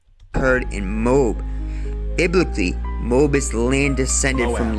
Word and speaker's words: Moab: Biblically, Moab is the land descended from Lot's son or the Moabites who were the sometimes the Moabites, not the Moabites. The It's Moab and Moabites.